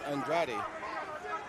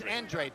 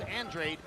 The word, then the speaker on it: Andrade: And they say the pronunciation of his name is Andrade. I don't know. Nope. Actually, it's Andred. The family prefers Andred even though it looks like Andrade.